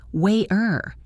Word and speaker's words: water: If you say it slowly, it sounds like water with a clear T sound. But if you ask an American for a glass of water at a restaurant, they will almost always say waiter. It sounds exactly like the letter D.